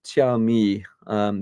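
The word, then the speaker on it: Xiaomi: my showstopper was the chi um that's x i a o m i so I think you pronounce it Chi um their stand their offerings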